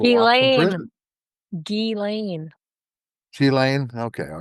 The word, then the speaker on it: Ghislaine: Ghislaine. Ghislaine? Okay, all right. So I got it. It's spelled Ghislaine.